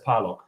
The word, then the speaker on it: Parlog: more like plock nobody in Germany says that even my family doesn't say that okay so my family says parlock okay and so in English I'm parlock like even I say parlock when I say my name in English it's kind of weird